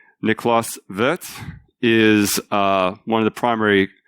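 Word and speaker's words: Niklaus Wirth: say you can call me by my name vets or call my but by my value worth which is what most Americans call him Nikolas worth not niklas vet and so he had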